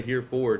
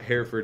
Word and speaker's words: Hereford: how to pronounce that I still I still butchered it let's go now you I mean you said it right many people say here forward and it's like I'm fine with whatever but Herford is the connect correct or the way I